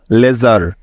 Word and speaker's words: leisure: সুতরাং LEI লে এবং SURE জার মিলে হয়ে গেল লেজার।